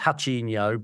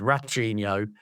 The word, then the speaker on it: Rachinho: I think in Brazil it would be pronounced Hachinho, but to us it's Rachinho.